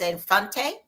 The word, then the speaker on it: Infante: yes yes I want to make sure I pronounced your last name correctly it's a fante that is correct all right well thank you